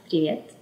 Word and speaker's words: привет: Привет.